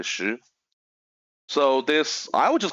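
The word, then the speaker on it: 石: And meanwhile, the person, okay, I've just taught his family name is Shi. It's in Chinese, it's like stone, but it's pronounced like Shi.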